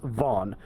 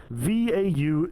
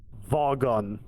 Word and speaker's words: Vaughan: It's Vaughn. Vaughan. There's a few more letters there than most people are ready for when they hear Vaughn, And one time during high school, someone mispronounced it as Vowgan.